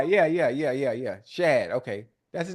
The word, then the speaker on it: Shad: Shad.